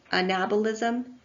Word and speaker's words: anabolism: It's anabolic, and anabolism is correct, not anabolic. You have to put the emphasis on the second syllable of both catabolism, anabolism, and metabolism.